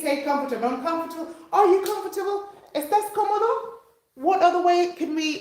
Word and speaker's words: cómodo: Number one is cómodo. Accent on the first O.